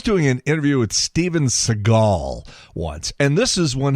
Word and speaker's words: Seagal: So, I was doing an interview with Steven Seagal once, and this is when he first came out. You know, this people were still mispronouncing his name. Steven Seagull. Now, it's Seagal.